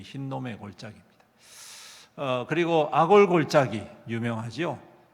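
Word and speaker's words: 힌놈: 하얀 놈이 아니고 그냥 흰놈이라는 발음입니다. 근데 이 의미가 뭐냐 하면 죽음이라는 뜻이에요. 여기에는 뭘 했냐면 아이들을 잡아가지고 제물로 드리는 그러한 이 참담한 일을 벌인 곳이 이 흰놈의 골짜기입니다.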